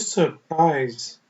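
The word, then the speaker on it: surprise: ठीक है जी, पी आर जो होता है वो साइलेंट है, यहाँ पे चुप है।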